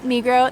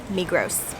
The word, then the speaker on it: Migros: It is pronounced Coop and Migros. That's just how the locals say it. Although on our first trip here, we definitely said Co-op and Migros.